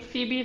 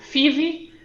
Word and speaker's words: Phebe: uh okay sure so so in english i would pronounce my name phoebe uh but uh um you know i'm i'm greek uh so obviously there's a greek pronunciation uh the actual pronunciation of my name in greek is fifi for my first name uh for my surname ah so so the